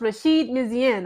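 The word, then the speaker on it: Rachid Meziane: I believe it's pronounced I believe it's pronounced Rasheed mizen okay and immediately everybody and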